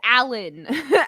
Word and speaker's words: Alain: his first name, and the Alan is spelled Elaine. Are they French? No, they're red. Do I look French to you? So just because we're French doesn't mean everyone else is French. Right, everybody's French. But it's spelled like ALAIN. That's hyphenated Michael. Yeah. But it's Alan. Alan.